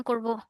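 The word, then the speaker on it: こ: হ্যাঁ, দেখেন কে আর ও, ওকে। এটা তো ও উচ্চারণ করছি, তাহলে কে আর ওতে কি হয়?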